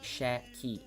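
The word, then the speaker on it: Şəki: love this city so but how to properly pronounce the city shocky in his area it's gonna be shaky shaky shaky shaky shaky shaky shaky which has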